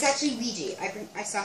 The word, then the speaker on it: Ouija: It's actually Ouija. I saw how to pronounce it.